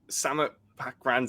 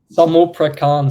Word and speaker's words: Samut Prakan: So, the first club that you joined in Thailand, Samet Pakran City. Look, my pronunciation isn't great. So, how do you say it? Samut Prakan City, Samut Oh, Prakan.